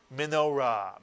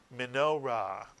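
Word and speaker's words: מנורה: So put the word together, and the word is minorah, mitsuyan, minorah. Two syllables, minorah.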